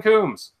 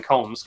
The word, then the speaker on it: Coombs: And he's like, everyone go subscribe to Ben Coombs. Well, actually, he said Ben Combs because he mispronounced my name.